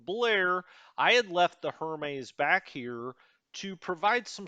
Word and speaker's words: Hermes: january 5th turn the hermes i've been told it's actually hermes we don't give it the french pronunciation it's a british ship so we're not going to say hermes it's hermes uh the